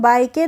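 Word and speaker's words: bike: ई तो बी बी आई केई को हम बाइ के तो नहीं पढ़ते हैं इसको क्या पढ़ते हैं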